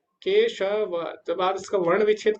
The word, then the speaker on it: केशवः: रही है अंत में, तो इसका जो उच्चारण होगा केशवः, हा ना, आ आ रहा है तो हा होगा।